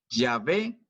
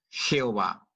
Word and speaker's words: Yahvé: Por lo tanto, se puede pronunciar como Yahvé o como Jehová.